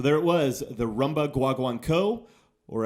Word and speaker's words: guaguancó: the Rumba guaguanco or as it's probably properly pronounced rumba wah wonk oh I'm never sure you know how much a non native Spanish speaker is supposed to get those inflections so it's somewhere in between those two I fully realized that